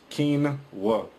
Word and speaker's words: quinoa: on Wikipedia it says Quin all right it's pronounced kinwa says it's Spanish it says a species of